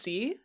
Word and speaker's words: Sie: The formal U is Z.